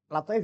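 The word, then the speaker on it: لطائف: Lataif ya. Ini cerakannya ini. Yang nyata siapa ini? Orang mana silakan nih? Orang Dermayu. Ada alifnya dibuang. Fandur ila lataif. Kalau ada alifnya nanti al-ta'if bacanya.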